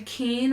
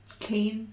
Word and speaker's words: Keane: other one is spelled k-e-a-n-e keen i guess keen and keaney i think it would still be king because i'm still pronounced keen yeah it's interesting that